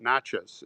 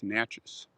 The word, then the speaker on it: Natchez: Natchez is in Mississippi, and it's not Natchez, it's Natchez. Got to say it right.